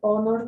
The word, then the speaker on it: honor: speed of its spelling the word honor begins with a vowel sound uh there with their